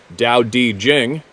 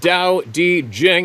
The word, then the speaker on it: Tao Te Ching: The Tao Te Ching states, pronounced Tao Te Jing. There we go again. Why don't they spell it the way it says? It sounds. Kidding. Pronounced Tao Te Jing, and I am paraphrasing.